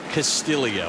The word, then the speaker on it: Castillo: It is Castillo. Explain. It is Castillo due to his Filipino heritage.